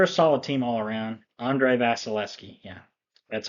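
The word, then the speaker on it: Andrei Vasilevskiy: they they're they're a solid team all around Andre vasileski yeah that's how you pronounce it they're a solid team all around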